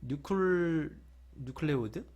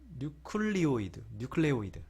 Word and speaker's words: 뉴클레오이드: 특히 지금 요 뉴클레오드? 갑자기 발음이 생각이 안 나네요. 네. 아무튼 뉴클레오이드.